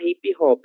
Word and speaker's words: hip hop: A mesma coisa para hip hop, né? Que é um ritmo musical. Hip hop. Segue da mesma forma, porque não é uma palavra originalmente brasileira, certo?